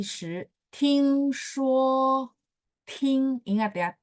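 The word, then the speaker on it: 听说: 再来第 10, 听说, ingat ya, T bacanya TH. 听说, Kang, nada 1 ya, 11 ya.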